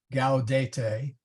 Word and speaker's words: Gaudete: C's are hard before A, O, U, and AU, like Cattolica. And by the way, well, we'll get to that. Maybe I should have done syllables first. But anyway, Cattolica, okay. Gaudete, those are hard C's and G's.